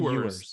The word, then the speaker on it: Ewers: Quinn Ewers.